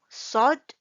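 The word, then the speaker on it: صاد: Okay, next here we have is sod. Okay, sod. When we want to pronounce the sod, the word letter sod, and we have to make our mouth look something like this, like a fish mouth.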